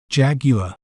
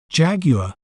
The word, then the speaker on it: Jaguar: better understand its pronunciation we may pronounce it as Jaguar Jaguar Jag you are Jaguar an interesting fact about